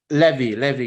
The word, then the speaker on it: Levy: Am I saying your name correctly, Levy or Levi? Levy, yes, correct.